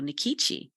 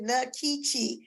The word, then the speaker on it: Nkechi: I thought it said Nkechi. Well, much to my chagrin, I find out years later that it's not pronounced Nkechi, it's pronounced Nkechi.